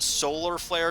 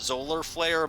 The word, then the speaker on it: Solar Flare: get in trouble uh it's spelled with an s so it actually is spelled solar flare not zoller flare but it is a